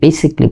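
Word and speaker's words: basically: এবং দেখেন পৃথিবীর অনেক উন্নত দেশ, জাপান সহ, আপনি যদি দক্ষিণ এশিয়াও দেখেন, তারা বেসিক্যালি বলে, আমরা যেটাকে বেসিকলি বলে, এবং এটাই কারেক্ট উচ্চারণ, বেসিকলি।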